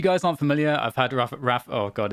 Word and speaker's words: Rapha: you're not adding an invisible ER at the end, I think you're okay. Oh So man, I don't know. Well, if you guys aren't familiar, I've had Rapha.